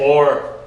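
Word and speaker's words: אור: Aleph is silent. Notice there's also no vowel here because what? Your vowel's here. Okay, so this is this vav becomes a what? O and resh. So everyone say or.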